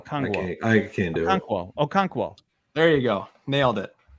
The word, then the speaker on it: Okonkwo: I'm going to say Chig Okongwu. I said it wrong. He literally tweeted this out. I retweeted the correct pronunciation, and now I forgot again.